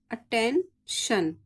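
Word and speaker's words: attention: आ जाए ठीक है तो आई को क्या पढ़ेंगे आ जैसे A double T ई एन टी आई ओ एन अटेंशन ठीक है आ आ का स्वर आएगा पी ई एन एस आई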